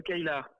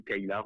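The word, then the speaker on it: Caylar: Alors le Kailar. Kailar, Alors on peut le prononcer le Kailar ou le Kaila.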